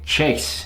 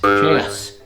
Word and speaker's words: chaos: There's another one that people have a problem with. They say chase. Chaos. It's chaos.